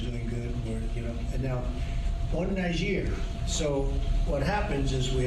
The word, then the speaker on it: Niger: And he wasn't like saying it like as the N-word, and then someone was like, Trump, it's pronounced Niger.